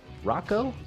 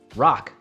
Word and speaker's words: Roch: Rocco, did I say his name right? Rock.